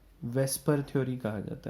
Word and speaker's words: VSEPR: या इसको शॉर्ट में वेस्पर थ्योरी कहा जाता है। ऑल्दो VSEPR है, बट हम इसको वेस्पर ही प्रोनाउंस कर लेते हैं फॉर आवर कन्वीनियंस।